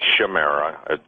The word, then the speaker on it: chimera: but the word chimera, some people pronounce it chimera, pronounce chimera, C-H-I-M-E-R-A.